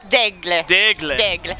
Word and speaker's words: Delisle: You're gonna need to help me with my French pronunciation. Yeah, it's okay. How should I Delisle it? Delisle.